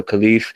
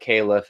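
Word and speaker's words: caliph: uh England or America so khif is the best way to probably say it but caleff is how boring people like me learned how to say it um now the first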